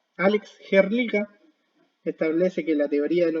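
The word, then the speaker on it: Hrdlička: Esa se pronuncia como Herlica. Alex Herlica establece que la teoría del hombre asiático, hace unos 50.000 años atrás, el hombre pasa desde Asia a América.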